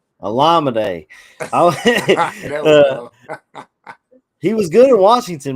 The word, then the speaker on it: Olamide: And then Zacchaeus, I can't pronounce his first. Is it Olamide? Omalade Zacchaeus? Olamide.